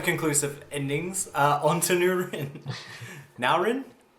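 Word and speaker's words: Nourin: Naurin? How do you say it, Alan? Norin. Not Urin. Norin.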